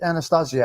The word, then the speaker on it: Anastasia: get him to kill anast Anastasia as you say it right the right way to say it that's that's right but